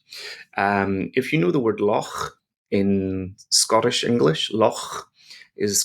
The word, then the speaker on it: loch: If you know the word loch in Scottish English, loch is got the same sound at the end.